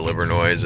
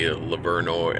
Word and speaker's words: Livernois: It might be Livernois. I don't know how they pronounce it, but I think it was Livernois and not Livernois.